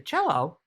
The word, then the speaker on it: cello: when you play the cello rhymes with hello um you play it